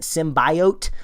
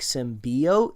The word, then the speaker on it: symbiote: the trail that's that's pronouncing it symbiote like the lot of emphasis on the eye and I think most people call it like symbiote you know I know